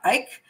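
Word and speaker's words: Icke: did this that show i called him david ick um apparently it's let me see if i got it right now ike um i still like it better anyway david ike is a good he's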